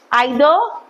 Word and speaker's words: either: Pronunciation of these words either and either dono correct you decide which one you want to use both are acceptable you want to say